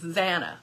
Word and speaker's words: Zana: Anna with a Z, Zana. Okay, I said it right the very first time.